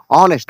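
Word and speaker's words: honest: ಅಂತ ಕರೀತಾರೆ ಅದೇ ತರ ಆನೆಸ್ಟ್ ಆನೆಸ್ಟ್ ಅಂದ್ರೆ ಪ್ರಾಮಾಣಿಕತೆ ಇದರಲ್ಲಿ h ಅನ್ನು ಲೆಟರ್ ಸೈಲೆಂಟ್ ಆಗಿ ಆನೆಸ್ಟ್ ಅಂತ ಕರೀತಾರೆ ಅದೇ ತರ ರೈಟ್ ರೈಟ್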